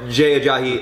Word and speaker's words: Jahi: his name I know that name very well jahi like we the 49ers held him to 72